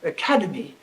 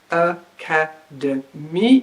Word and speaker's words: academy: Take a word like academy. This is a 4-syllable word.